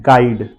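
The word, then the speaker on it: guide: इज गेस्ट third one इज गेस guitar and गाइड okay यह पांचों spelling आप ध्यान से देखिए जी के बाद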